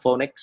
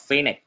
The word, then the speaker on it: phoenix: sẽ có xu hướng đọc nó là phonics hoặc là phonics. Trong khi đó, sự thật nó được đọc là phoenix, có nghĩa là âm e.